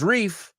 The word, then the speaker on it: riff: Riff rhymes with stiff. Tieso, right? So it's always good to rhyme words. Reef rhymes with leaf. See? Leaf and riff, totally different.